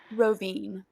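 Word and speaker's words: Rovinj: Pronounce it for us, the name of the city. Rovine.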